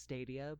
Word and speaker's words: Stadia: we've we've seen I know I know it's pronounced stadia but I'm gonna call it's Dalia Dalia is